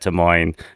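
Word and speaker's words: Des Moines: of names especially at T Moine um which the S is silent as Ron Kumer tells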